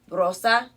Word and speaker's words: rosa: so can you say rosa we're going to roll your r a little bit rosa you know like